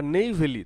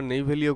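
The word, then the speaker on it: Neyveli: আসলে নোয়া ভ্যালি হলে এর প্রোনাউন্সিয়েশন তোমরা নেইভেলিও করতে পারো, NEYVELLY, নেইভেলি, VELIও হয়।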